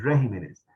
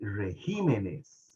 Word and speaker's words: regímenes: está el país verdad no no se dice el regímenes se dice regímenes correcto régimen y regímenes correcto Estamos bien ahí Okay